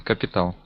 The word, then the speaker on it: capital: A bit different pronunciation. Capital. Really? Okay. Yeah. Capital. All right. First syllable stress in English.